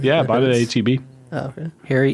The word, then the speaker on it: HEB: How do you pronounce HEB? Heb. Yeah. And it was like it's I can see that. HEB.